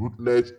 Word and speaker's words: Routledge: Rutledge is spelled Routledge. Rutledge versus Grant. Grant is Grant. So we pronounce them Rutledge and Grant.